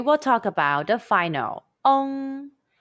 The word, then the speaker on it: ong: talk about the final ong. When you see the English letter ENG in Pinyin, the pronunciation is ong. It's like the UNG in the English word young, but the G sound is barely pronounced.